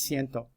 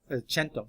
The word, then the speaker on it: cento: Cen okay in uh in Italian it's Cento chento sorry because we don't say the soft SE chento um so it's actually